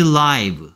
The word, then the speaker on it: live: 라이브 방송입니다 하면 생방송입니다 라는 뜻이죠. 얘를 발음에 따라서 live라고 읽으면 살다라는 뜻이고요. 라이브라고 읽으면 생방송의 라는 뜻이고요.